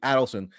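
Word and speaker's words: Adelson: the adelon the adelon you have to pronounce it actually Adon and the the hint for how to pronounce it is they add up their money um so what's unpredictable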